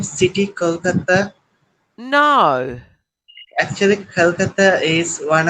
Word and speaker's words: Kolkata: Actually, Ah, Britishers pronounce it like Calcutta, and we Indians say it Kolkata.